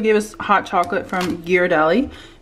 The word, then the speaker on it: Ghirardelli: us hot chocolate from ghirardelli which is how you're supposed to pronounce it not juradely but comment down below